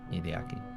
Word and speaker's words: Hideaki: Hideaki.